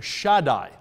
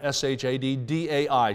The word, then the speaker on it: Shaddai: And that is the Hebrew name Shaddai. S-H-A-D, like Shad, S-H-A-D-D-A-I, Shaddai.